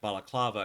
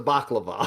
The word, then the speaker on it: baklava: So I don't typically like balaclava because I don't like pistachios. Okay, we should probably say it correctly. The baklava, Baklava.